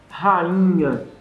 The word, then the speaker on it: rainha: Então você tira da pronúncia o som do I. Rainha. Já fala o I com o NH já pronto para sair, né?